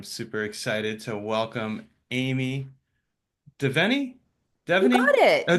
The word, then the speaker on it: Devenny: My name's Amy Devenny. Yep, got the pronunciation right.